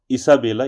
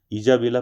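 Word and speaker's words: Isabella: Kids ईसाबेला या इसको आप प्रोनाउंस कैसे कर सकते हैं? या फिर आप इसको ईजाबेला पढ़ सकते हैं या फिर ईसाबेला।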